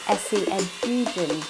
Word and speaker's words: Esi Edugyan: this fantastic book, Washington Black, and that is Esi Edugyan. Have I pronounced that right?